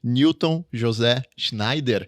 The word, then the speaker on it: Newton José Schneider: Newton José Schneider, Isso. essa que é a pronúncia certa.